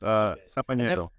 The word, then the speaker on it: Samaniego: Samaniego. Samaniego. Yep. Okay. It's not pronounced the way it's spelled.